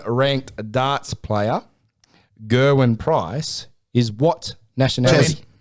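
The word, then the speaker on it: Gerwyn: Gerwin. Very close. It's got like a D. It's pronounced. Get a win.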